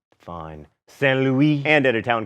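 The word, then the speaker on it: Saint-Louis: Saint Louis, and at a town called Gorée, both in Senegal.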